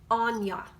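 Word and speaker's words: Áine: irish and her name this see that it's pronounced anya okay gaelic is like intriguing af to me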